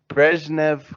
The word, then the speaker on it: Brezhnev: Let me ask your opinion about and also correct my Russian pronunciation. Brezhnev Kosygin.